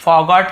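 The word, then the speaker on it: forget: I have फॉरगॉटन, अब देखिए यहां पे हैव के साथ फॉरगॉट का फॉरगेट फर्स्ट फॉर्म, जिसे फॉरगेट ऐसे बोलते हैं, आर थोड़ा साइलेंट होता है, सेकंड होता है फॉरगॉट, थर्ड होता है फॉरगॉटन।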